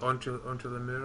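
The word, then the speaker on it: Entre les murs: Is it Entre le Mur or something it's called?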